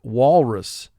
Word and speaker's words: walrus: Wal has 3 sounds. W, aw, ul. Rus, 3 sounds. R, s. Walrus. Mark the word. Walrus. In the first syllable, A is preceded by the W sound. When A has a W sound directly in front of it, that will cause the A to represent its extra sound.